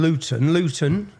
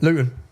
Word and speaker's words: Luton: don't understand Luton, see, I pronounced my T there. We don't pronounce our T's. I've done that for you. How do you say it? Luton. Bottle, water. Luton, bottle. Luton, bottle. Bottle of water. But it's Luton, yeah?